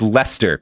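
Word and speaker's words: Leicester: sorry I didn't I didn't realize it was pronounced Lester because it's not at all spelled like Lester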